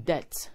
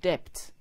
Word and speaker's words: debt: instance you are in debt debt is spelled d-e-b-t when pronouncing the b is silent therefore it is not depth but that please be guided g-e-n-r-e